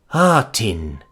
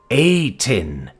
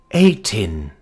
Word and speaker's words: Ain: Atin? No, Ain, he said, emphasizing the first syllable. Ain.